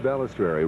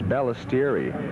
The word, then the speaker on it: Balistreri: You know, I think it's Balistreri. I don't think there's an R in there. I think it's, I got Balistreri. I guess T-I-E-R-R-I. I think you're right. Balistreri. Pronounced Balistreri.